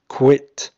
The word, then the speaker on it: quit: أول واحدة quit زي كلمة sit.